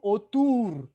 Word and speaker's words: autour: Les clients sont autour d'une table. Les clients sont autour d'une table. Très bien. Ocupamos que suene más esa R de autour.